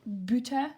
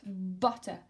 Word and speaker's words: butter: butter okay be careful in English we do not say buta but butter this is the sound